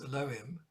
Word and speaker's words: Elohim: theme the twinship theme derived from Alim nowadays pronounced Elohim which is the is plurals plural name the